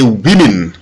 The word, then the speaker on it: women: Attention, ne dites pas woman ou women, c'est women. Le O ici est prononcé I en anglais.